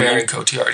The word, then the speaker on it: Marion Cotillard: Marion Cotillard, yeah.